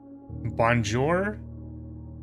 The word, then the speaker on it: Bonjour: Bonjour. which rhymes with Azure.